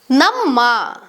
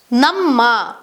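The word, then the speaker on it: ನಮ್ಮ: Ma is pronounced as a double M, ma, which sounds like namma, namma, which means our.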